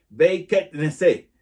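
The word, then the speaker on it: בית כנסת: Y en hebreo, esta palabra sinagoga se dice Beit Knesset, perdón, la pronunciación, Beit Knesset, que significa casa de asamblea.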